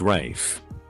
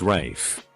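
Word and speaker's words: Ralph: runaway rafe mom jumped all over it it's pronounced rafe well it's spelled rafe well it's pronounced rafe well it's the f king english language ma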